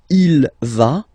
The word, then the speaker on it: il va: Basically you pronounce it like for the tu because you don't pronounce the final S, okay. Il va, elle va, okay.